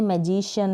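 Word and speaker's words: magician: आपको Hsien Hsien करके नहीं बोलना है, मैजिशियन, लेकिन जो करेक्ट प्रोनाउंसिएशन है वो यही है, मैजिशियन, म्यूजिशियन, मैथमेटिशियन, पॉलिटिशियन, यहाँ पर फिजिशियन और इलेक्ट्रिशियन।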